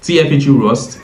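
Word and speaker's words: TFHE-rs: And TFG RS pronounced TFG Rust is their ROS programming language implementation of It's basically a fast efficient engine that handles the encrypted computations.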